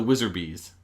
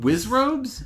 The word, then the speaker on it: Wizzrobe: the the wizard bees the Wiz ropes the wizard bees wizard bees yeah that's what aren't they called wizard bees think you might be talking about wizzrobe Wiz robes I think really called Wiz robes have I